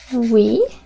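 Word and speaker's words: oui: you write your name yes is we we o u i we yes we then let's say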